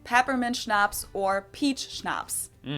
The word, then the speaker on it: Schnapps: these words are like schnapps this one I also mentioned in my video on alcohol culture in German we spell it like this and say Schnapps and it means hard